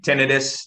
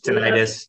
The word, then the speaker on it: tinnitus: say ringing in the tinnitus tinnitus same tomato tomato um everyone has that uh that that question with the pronunciation too it's both um yes so tinnitus